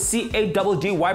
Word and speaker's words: Caddy: Come on, with C-A-D-D-Y pronounced Caddy.